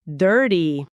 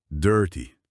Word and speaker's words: dirty: Dirty. E agora em velocidade normal. Dirty. Nossa, que diferente. Totalmente esse som do ear in dirt e o t no meio.